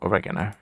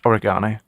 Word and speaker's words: oregano: then small numbers no oregano or as it's correctly pronounced oregano race course spy eating